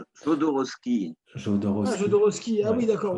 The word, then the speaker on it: Jodorowsky: Je sais pas si tu as vu Psychomagie, ça te parle avec Jodorowsky, je sais pas comment que ça se prononce. Non, Jodorowsky.